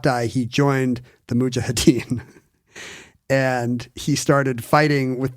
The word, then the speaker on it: Mujahideen: It's Mujahideen. The J is first, but I don't know if I'm saying it right.